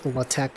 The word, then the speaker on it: LaTeX: a latex it's pronounced it's spelled like a latex but they just pronounce La Tech for some reason who knows why they